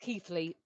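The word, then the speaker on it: Keighley: for a second then keithly is pronounced keithly um says matron 69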